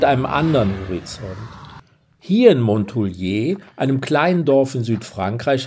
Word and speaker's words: Montouliers: Aus Montouliers oder aus Montoulier? Aus Montoulier, das ist Französisch. Wir sind hier in Südfrankreich und da spricht man das S am Ende nicht aus.